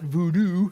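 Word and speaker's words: Bodun: Okay, and there, it's not known as we would spell it voodoo.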